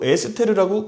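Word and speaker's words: אסתר: 분명히 하다사라는 히브리어 이름이 있는데 또 에스테르라고 굳이 히브리어 발음이 비슷한 것들을 가지고 이름을 하나 더 써놨단 말이죠.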